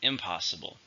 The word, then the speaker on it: impossible: then finally we have impossible something that cannot happen it's an adjective four syllables stressed in the second syllable impossible expert thought it